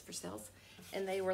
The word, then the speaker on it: Versailles: their side but it's for sales and they were like what I was like it's Kentucky version of Versailles okay it's like for sale but for sales and so that's how we say it like Louisville it's not